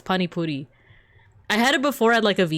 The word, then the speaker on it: pani puri: Yes, it's pani puri.